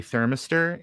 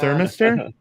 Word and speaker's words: thermistor: thermistor. What? You're putting the improper emphasis on the wrong syllable. Well, no. What are you talking about? Thermistor. Thermistor, not thermistor.